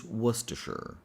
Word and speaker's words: Worcestershire: Maybe because most things here are silent. And I get it. Why would you add all of these letters if you're not going to pronounce them? But anyway, let's do this. So, the word is worsher. And I think the easiest way to remember this is first let's eliminate the sounds we don't need in this word.